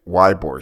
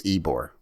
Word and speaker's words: Ybor: to that place but apparently I was pronouncing it libor City and it's not why boy it's Ybor and I'm like I'm